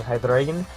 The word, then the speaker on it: Hydreigon: So next up here, I told you guys I was going to be getting Hydreigon, and before I get comments about it, yes, that is how you pronounce it.